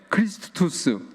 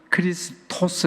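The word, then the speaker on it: Χριστός: 발음이 약간 달라요 어 라틴어에서 끝에 우스라 해요 크리스투스 그리고 어 그리스 또는 헬라에서는 크리스토스 합니다 한 우리 한번 따라해서 따라해 보실까요 크리스토스 크리스토스 크리스토스 크리스토스 예 다 같아요 어 그런데이 크리스토스 크리스토스 히브리어의 메시아를 그리스어로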